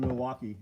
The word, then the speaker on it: Milwaukee: I don't know if Milwaukee tools are from Milwaukee. It's spelled Milwaukee. Milwaukee. There's no L in there.